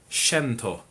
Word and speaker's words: Shinto: or spirituality now you'll notice here i'm saying shento it's because phonically the romanisized version of japanese eyes are pronounced kind of like ease so it's just